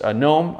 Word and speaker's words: Noem: says love christie noem because gnome i think that's how you say her name because phillip here is